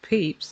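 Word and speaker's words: Pepys: Unless you know that and know them as a diarist and how to pronounce their name, the way it looks doesn't sound anything. Well, you'd think it wouldn't sound anything like Peeps, so I'm really not happy with that one.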